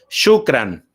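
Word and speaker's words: شكرا: Shukran. La O-U se pronuncia como U.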